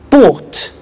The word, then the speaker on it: bought: to the pronunciation by bought you notice that o u g HT is pronounced ought by bought come came